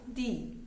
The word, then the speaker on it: the: बेटा इसकी to pronunciation होती है, वन होती है दी एंड वन होती है द. जहां पे हम ऐसा सिंगल यूज कर रहे हैं वहां पे हम बोलेंगे द. ठीक है, जहां पे ऐसा